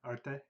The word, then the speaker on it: Arte: Arte, yeah.